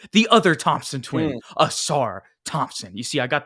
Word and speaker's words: Ausar: starting this video, the other Thompson twin, Mm, Ausar Thompson. You see, I got the pronunciation right, you Ethan.